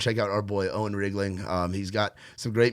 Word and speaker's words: Riegling: g l i n so it's wriggling not wling it's wriggling wriggling I've been saying it wrong it's all good man it's R like a truck and then Ling like anything like anything like ring like ring a ling you know um it's like reing like the wine but with a G L yes you're that's what